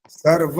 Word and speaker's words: सर्व: आपने अ की है सर्व जब बोलते सर्वण बोलते सर्व व का उच्चारण है आपका आधा था ना पूरा था बीच का था सर्व गणम व का उच्चारण पूरा आना चाहिए माइक बंद कर इंद्रा